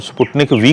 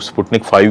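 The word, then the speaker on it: Sputnik V: और इसके अलावा अगर हम स्पुतनिक वी की बात करते हैं, जिसको बाज़ औक़ात लोग स्पुतनिक 5 भी प्रोनाउंस करते हैं, लेकिन ये स्पुतनिक वी है, तो इसकी एफिकेसी बहुत अच्छी है, तकरीबन 90+ है।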